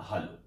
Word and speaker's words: halo: घटना यह है कि एक शब्द हमारे सामने आया है, सन हालो। कई इसको प्रोनाउंसिएशन के तौर पर सन हेलो भी कह देते हैं।